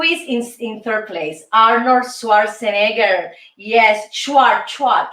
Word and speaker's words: Schwarzenegger: who is who is in third place arnold schwarzenegger yes schwartzwatch schwarzenegger's is the uh the pro pronunciation okay arnold schwarzenegger is in third place